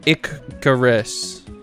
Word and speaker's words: Icarus: Icarus is pronounced Icarus, like how I pronounced it, with the first syllable rhyming with pick.